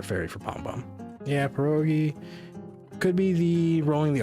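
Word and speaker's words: pierogi: Um I think the American population of the Polish people when they moved to the United States just dropped the rolled R and pronounced the rolled R as a D and it became pedogi.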